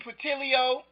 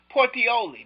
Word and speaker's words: Puteoli: cities of Cumae and Patilio, I forgot how to pronounce that. His army was not able to receive reinforcements or supplies. Portioli, that's how you pronounce it. Puteoli.